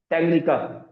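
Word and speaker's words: Tanganyika: टैंगनिका। ए इसमें क्या है बेटा? साइलेंट है। ए बेटा क्या है? साइलेंट है।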